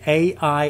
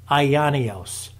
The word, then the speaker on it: aionios: The word there, ladies and gentlemen, for everlasting, it's spelled this way, A-I-O-N-I-O-S, Aionios, okay?